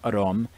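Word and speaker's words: อารมณ์: In the Thai language, the word aramana, pronounced arom, always means the emotions, and sometimes in this book it also means the emotions.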